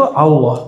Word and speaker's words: Allah: dan u itu Allah jadi cara baca allahimana bukan Allah Allah jadi A tapi cenderung kepada u a cenderung kepada u bukan Allah tapi Al Allah bacanya A tapi lidahnya ngarah ke u Allah Coba sekarang yang